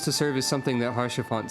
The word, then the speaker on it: Haurchefant: Haurchefant. We didn't pronounce the T that time.